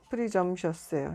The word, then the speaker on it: presumptuous: 뭐 also from 뭐뭐로부터 프리점셔스예요. 이게 T가 소리가 안 나. 발음 기운인데 이건 묵음이에요. 프리점셔스 이렇게 돼요.